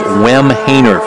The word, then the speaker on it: Wemhainer: And then Teresa Wemhainer is how you pronounce this young lady's name. She had the goal in front. The keeper got injured on. Tarlis was there as well, but it's pronounced Wemhainer, 5'5" junior.